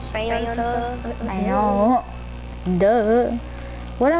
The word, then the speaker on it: Faygo: It's not pronounced Faygo, it's Faygo.